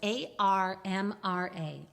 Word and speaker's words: ARMRA: Let's spell it for our listeners who didn't quite hear that. Yeah. So it's ARMRA, Armra.